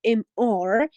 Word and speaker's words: Mr.: And just a small problem with the pronunciation of MR. Whenever we have MR, it stands for Mr. not miss.